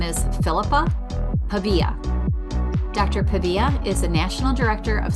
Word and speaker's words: Pavia: Pavia is also, or Pavia, I'm going to say it wrong. Pavia, you're good. Pavia, I had it right the first time?